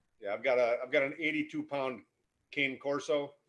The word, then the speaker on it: cane corso: Yeah, I've got an 82-pound cane corso. Cane corso is the correct pronunciation, but everybody knows it as a cane corso, Italian mastiff.